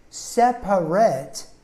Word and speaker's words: separate: is in the syllables separate actually is three syllables but we usually cut out the second syllable so we say it's a separate so we make it sound more like a two syllable word there were tears coming